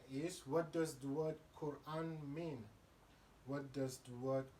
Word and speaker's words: Quran: question dr shabir is what does the word quran mean yeah so the word quran as as you pronounce it rightly uh has uh you know